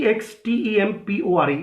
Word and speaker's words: extempore: एक्सटेम्पोर नहीं होता है, इट्स EXTEMPORE।